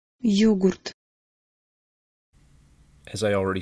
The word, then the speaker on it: Йогурт: Йогурт. Йогурт. Йогурт.